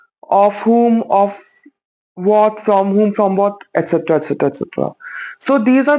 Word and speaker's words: y: So first talking about e, the letter y, we pronounce it as e when we are using it as a pronoun.